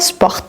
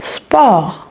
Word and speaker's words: sport: Je dis pas sport, pas comme en anglais, je dis sport.